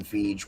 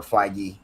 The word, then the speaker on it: Feige: Yes, I agree, and I think that that was intentional by the writers and Kevin Feige or Feige. I've heard it pronounced both ways.